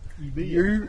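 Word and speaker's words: Ubirr: Now we're going to head up to the rock art site at Uber. I guess that's how you pronounce it. Eh, yubia. U B I R R. Yubia.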